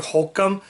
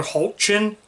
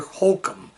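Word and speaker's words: Hoechlin: I said it's Tyler Hulcom. It is Tyler Hulcom, but I said Tyler Hulchin when it's actually Tyler Hulcom.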